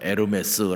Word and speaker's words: 에르메스: 보통 " 에르메스 " 라고 발음 하며 , 그 이름 의 유래도 거기 에서 비롯 되었습니다 .